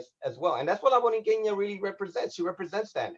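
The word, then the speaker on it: La Borinqueña: How do you pronounce that? Chill. I'll explain it to you. La Boriqueña.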